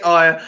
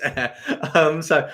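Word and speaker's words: Ayr: Darren's saying, I probably pronounced air wrong. Did I say ire? I do say ire sometimes. I know it's air.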